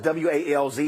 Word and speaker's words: Walz: So even though it's W-A-L-Z, it's pronounced Walz.